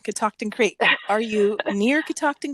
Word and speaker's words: Catoctin: Yeah, Catoctin, it's spelled how it's pronounced. But I mean, people. It's where you put the emphasis.